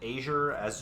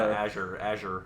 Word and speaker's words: Azure: The way I'm pronouncing it, it's like AJ yeah, EHR or something.